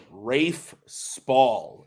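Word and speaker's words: Rafe Spall: let's go to Ru I never know how to pronounce it but it's Rafe Spa RAF SP whatever and Jake I said Sean Harris Rafe Spa is correct so I do math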